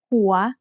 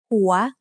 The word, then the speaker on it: หัว: วอแหวน to make สระอัว หัว หัว is said with a rising tone because it has a high-class initial consonant with a live syllable ending.